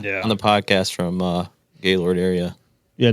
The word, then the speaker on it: Gaylord: Gallard. Gallard. Gaylord. Yeah. Gayard. Yeah. How do you pronounce it? Gaylord.